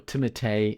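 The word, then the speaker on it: Timothée: know headline actors like Timothy Shalom or timate as he says his name is pronounced which I guess we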